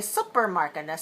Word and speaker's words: supermarket: sometimes I hear students say Supermarket sup not sup but Sue and I want you to know that you should say Su Sue before you put the P so some students make the mistake of of putting the p on the on the o and then you shut it off so I want you to leave it open and just have the S and the O together Sue Su like the name Sue the short for suzan